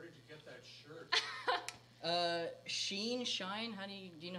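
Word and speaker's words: SHEIN: Sheen, Shine, honey, do you know how to pronounce it? Sheen? Sheen.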